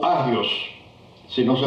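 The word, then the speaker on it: ἅγιος: La palabra que encontramos en el griego lectura del Nuevo Testamento esos o agios, si no se pronuncia la la H.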